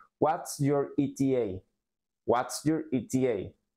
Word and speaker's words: ETA: en estas palabras Entonces esto se pronuncia eta eta te pongo AC un